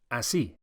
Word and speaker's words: así: The way to say like that, or indeed that way, in Spanish is one word, así. Así. Make sure you accentuate the second syllable, y.